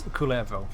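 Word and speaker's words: Kullervo: Yeah, the pronunciation, as far as I've heard, is Kulevo.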